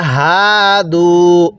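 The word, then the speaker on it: هادوا: এরপরে হাদু, এই হাটা উচ্চারণের সময় অনেকে আমরা একটা ভুল করি, এটাকে হাদু এরকমভাবে পড়ি। যদি এরকমভাবে হাদু পড়ি, তাহলে কিন্তু পড়াটা সহি শুদ্ধ হবে না। কিভাবে পড়তে হবে? হাদু, হাটা উচ্চারণের সময় গলার মধ্যে হালকা আওয়াজ হবে।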